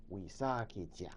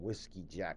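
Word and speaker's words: Wisakedjak: Sometimes they call him Whiskey Jack. I can't even pronounce it right. Wishakijack. Yeah, that's what the Suyepis, the Washichu, call him, Whiskey Jack, because they can't say it either. But Wishakijack.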